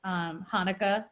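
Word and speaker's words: Hanneke: an e ke but it's pronounced like the Jewish holiday so Hanukkah yeah she's from South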